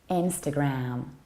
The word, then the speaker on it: Instagram: is this one and it is not Instagram or Instagram it is Instagram Instagram so you stress the first level and you don't reduce the ending Instagram bonebridge auxins Instagram